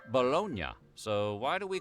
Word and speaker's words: bologna: Might be an anglicized version of the city's name. Bolognia. Bologn. Other theories site early Italian Americans pension for shortening or changing the pronunciation of Italian words as they imported them into American English dialect. Take for example riot for ricotocute for prochto. It could be that bolognia was shortened to balone and eventually the y